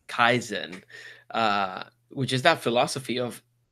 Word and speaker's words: Kaizen: Kaizen. Kaizen, which is that philosophy of incremental progress, and it's little increment.